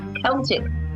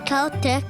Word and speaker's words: Celtic: Celtic but miss says Celtic like with the K why is that in Ireland the word Celtic is typically pronounced with the k sound similar to the British English pronunciation but in America the